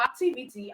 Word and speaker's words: activity: last cable okay so for activity how many syllables do we have we have activity that means we have four syllables all right we have four syllables so that means that our syllable for activity is on t t